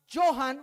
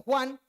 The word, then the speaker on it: Johann: En una ocasión le enviaron al más grande teólogo de la iglesia católica que se llamaba Johann, o algunos lo pronuncian como Juan Tetzel.